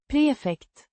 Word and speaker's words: prefekt: Pronounced Prefekt. with a distinct emphasis on the first syllable.